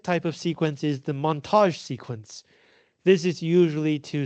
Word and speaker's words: montage: call this Moni um the reason it's called a montage and the reason I'm pronouncing this word in a very French way is because it is French Montage in French just means editing for some reason the